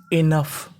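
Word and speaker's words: enough: यहां पे ओ है यहां पे हमें ओ का उच्चारण नहीं करना ओ हमारा साइलेंट रहेगा कहने का मतलब इंग्लिश में कई शब्द ऐसे होते हैं जिनमें कुछ अक्षर साइलेंट रहते हैं यानी उनका उच्चारण नहीं करना होता तो मीनिंग क्या बनी इनफ इनफ इनफ का मतलब होता है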